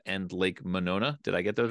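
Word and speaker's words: Monona: guys will have to correct me on my pronunciation here Lake m and Lake manona did I get those right yep nailed it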